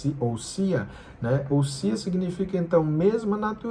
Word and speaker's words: ousia: Se escreve ousia com s, mas se pronuncia ouia, né?